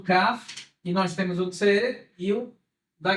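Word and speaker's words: כן: tranquilidade muito bem então Aqui nós temos o k e nós temos outro ser eu da gueixa uma vez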